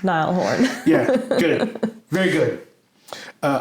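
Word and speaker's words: Niall Horan: the year nail horin I believe it's pronounced Nile Horn yeah good very good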